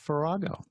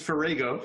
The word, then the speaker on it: Farrago: the show dr douglas ferrago yeah actually it's ferrago how's that but that's